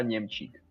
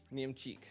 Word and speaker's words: Němčík: could you correct me, please? Yeah. It's Němčík. Němčík. Němčík. Okay, Yes. Němčík. Gotcha. Okay, so it's that last syllable that caught me off guard.